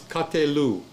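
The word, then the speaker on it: קָטְלוּ: You're adding a u on the ending of the word katal. So it becomes katelu. That's how you pronounce it.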